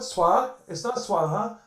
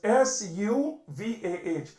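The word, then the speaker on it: सुवः: It's not Swaha, or it's Suvah, Suvaha, that which brings you happiness.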